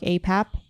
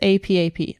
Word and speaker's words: APAP: anything, they'll say like APAP, which is acetaminophen. Yeah. Well, I call it APAP. It's not AP. I mean, it's APAP.